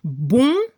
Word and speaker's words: bon: En francés, bon, bonne. Agregamos NE al femenino. Al nivel de la pronunciación es diferente masculino y femenino. Al masculino, el sonido ON se pronuncia como si tenía la nariz tapada.